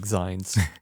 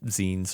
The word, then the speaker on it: zines: and physically print them like zines or zeens or however you want to pronounce it.